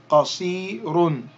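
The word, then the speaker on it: قصير: Qaf with a fatha. Qa. Sad with a kasra. Si. Qasi. Elongate that with the ya. Qasi. And the ra with the dammatan. Run. Qasirun. Qasirun. Qasirun. Qasirun. Then drop the dammatan and you would simply say qasir.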